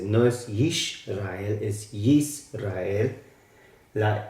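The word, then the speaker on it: ישראל: Entonces la pronunciación en hebreo es Yisrael. Yisrael. Recuerden que la R es de la garganta.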